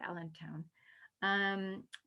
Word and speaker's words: allantoin: I don't know how to say the British pronounce it, but in America we say allantoin.